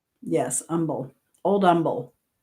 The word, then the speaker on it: Humble: Old umble. No H. The H is silent.